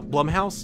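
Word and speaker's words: Blumhouse: love that's why I love Blum Blum how Blum House that's how you pronounce it but going into this flash movie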